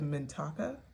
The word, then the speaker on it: Mintaka: The seas of Mintaka, I believe is the way it's pronounced.